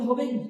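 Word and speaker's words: ح: এটা একদম কন্ট্রোলারই শেষ বা আপনি বুকের ভিতর থেকে বের করতে পারেন, যাতে এটা গভীর ভাবে হয়, একটা গম্ভীর আওয়াজ হবে হা।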